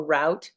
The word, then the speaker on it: route: either way route or route um route is more West Coast root is more kind of middle of the country and since I'm on